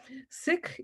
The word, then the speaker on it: Sikh: Sikh is how we pronounce it in India.